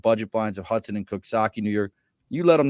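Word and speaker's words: Coxsackie: looks just like saki it's pronounced Kaki it looks like saki though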